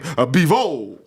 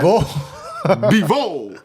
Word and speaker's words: Bivol: That's how I say his name. Bivol. He was the aggressor. Like he was letting the hands go. Zoldo was lost. Yeah. Yo, his jab is crazy. Bivol's jab. Bivol. It's like behold, but Bivol, his jab.